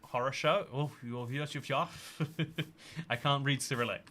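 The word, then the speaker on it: хорошо: Fun fact, the Russian word for good is pronounced horosho.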